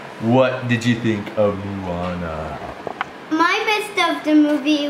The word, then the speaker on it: Moana: itana muana there you go MO mua yeah Moana no munana no yeah no Moana no munana no Moana we're going to go